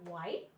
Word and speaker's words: white: Then we have white, W in whale. Now this special sound also makes two sounds, but in white, you only hear the W. The H is silent.